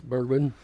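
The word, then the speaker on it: Bregman: with the Giants Alex is it Bergman is that how you say it for the Astros yes Bergman and then of course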